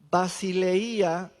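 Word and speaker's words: βασιλεία: Y luego Juan dice, "En el reino, reino se pronuncia basileía.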